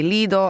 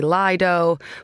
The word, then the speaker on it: Lido: Well, you are tearing me between my homeland and my adopted home there because in Italy, we would say Leido. I know the Brits say liido, but I think blood is thicker than water.